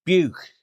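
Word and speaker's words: bugh: I thought I'd do the Cornish word for cow, which is buch. Buch. And that's spelled B-U-G-H.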